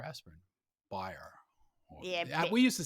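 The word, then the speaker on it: Bayer: to the germans so bear aspirin buyer yeah we used to say bear lisa bear yeah but now but the pronunciation is like buyer no i'm gonna say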